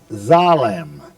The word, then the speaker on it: Salem: and it was to be called Zalem and that's spelled in English s a alm like Salem.